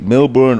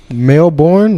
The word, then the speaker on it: Melbourne: Male-born, like males. No, Melbourne, right? Am I saying it right? I don't know. It's like Mel Gibson, but just Melbourne.